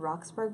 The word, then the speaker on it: Roxburgh: it might be Richard Roxburgh, but I'm going to say it like Edinburgh Theatre Festival.